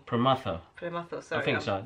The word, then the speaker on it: Prematho: It comes from the film called Nannaku Prematho. Prematho. Prematho, sorry. I think I'm so. No, really I'm bad at pronouncing things.